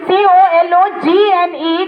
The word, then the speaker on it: cologne: COLOGNE, G is silent here.